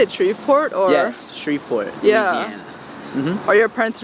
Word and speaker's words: Shreveport: Yes, Shreveport, Yeah.